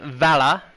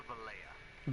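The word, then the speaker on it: Valencia: As you guys can see, we're here in Vala. I think that's how you say it. We're going from Vala to our home, which is all the way over here in Hydel. Actually, bro, it's Valleja.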